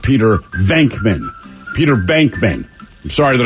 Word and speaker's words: Venkman: And now they're complaining, goddamn it, it's pronounced Peter Venkman.